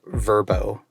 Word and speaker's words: VRBO: we discovered is that vrbo is not vrbo it's actually pronounced verbo what oh this is